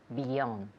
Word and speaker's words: beyond: Beyond. Okay, good. Repeat again. Beyond. Okay, great. Beyond, beyond. Again, otra vez, la segunda sílaba pues lleva el acento, the second syllable.